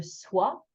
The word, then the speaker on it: sois: Ignore all the silent letters at the end. So we just have that lovely wa sound that you've practiced when you learned how to say moi or bonsoir or the color black noir, wa.